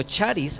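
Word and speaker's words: χάρις: gracia entonces la gracia la palabra gracia viene del griego aris también se puede pronunciar como charisse algunos dicen charisse parís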